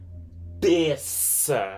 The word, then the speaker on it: terça: But all I'm saying is that the C with the cedilha makes the sound like an S sound.